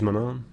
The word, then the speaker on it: Manaan: call that I think the English pronunciation is mon on mon on mana it is mana and we're going to